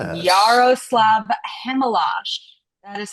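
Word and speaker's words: Chmelar: Yaroslav Chemel That is how you pronounce it. c h m e l a r but it is Chemel.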